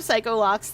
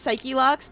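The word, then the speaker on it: Psyche-Locks: He calls them Psycho Locks, though. They're supposed to be pronounced Psyche Locks, but I insist on calling them Psych Locks.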